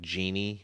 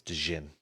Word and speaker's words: Djinn: In Djinn, you might also hear them called as like genie or whatever. It's spelled weirdly. And the American version naming of it, we might say genie as well. But yeah, it's Djinn.